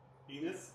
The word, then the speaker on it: Ennis: And this rhymes with tennis, Jeff. Oh. Yeah. Oh. That's less fun. I just thought it was penis without the P. Enos?